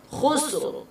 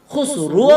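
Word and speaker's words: خسر: আর এখানে রটাকে হালকা করে কি করতে হবে? উচ্চারণ করতে হবে, পড়তে হবে হালকা করে। কিরকম করে? খুসর, খুসর, খুসরো। খুসরুও বলতে পারবেন না, তারপর খুসরিও বলতে পারবেন না। কি বলতে হবে? খুসরো।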